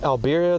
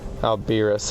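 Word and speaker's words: Alberius: Isn't that one of the 6 great worms that Alberia the Founders was packed to? Alberis. I might have said that name wrong. I might have read it as Albira.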